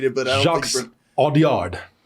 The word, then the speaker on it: Audiard: Audiard, I believe is how you say it.